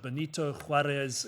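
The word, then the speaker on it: Benito Juárez: Then we have part 2, the Pacific Ocean, and then part 3, I think this is pronounced Benito Juarez Infirmary, Tematlán, Mexico.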